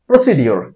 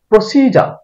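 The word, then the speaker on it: procedure: হবে আসলে গোজাস গোজাস গোজাস গর্জিয়াস না গোজাস প্রসিডিউর এটাকে আমরা উচ্চারণ করি এটা ভুল উচ্চারণ প্রসিডিউর মানে পদ্ধতি এটার শুদ্ধ উচ্চারণ হলো প্রসিডার প্রসিড যা প্রসিজা এটাকে আমরা উচ্চারণ করি মডগেজ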